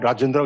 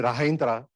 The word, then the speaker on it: Rajendra: is my full name little hard to pronounce when he lived in California used to call me rindra so so because the h andj was getting confusing for them so I just shortened